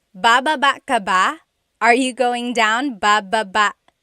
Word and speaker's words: baba: So depending on how you're saying it, it could be baba, chin, baba. Emphasis is on the first syllable. Baba. Then there's baba baba. Emphasis is on the second syllable syllable. That means to go down.